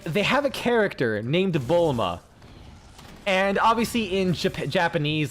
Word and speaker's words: Bulma: Like, they have a character named Bulma, and obviously in Japanese, like, I think they pronounce it as Buluma or something like that, you know.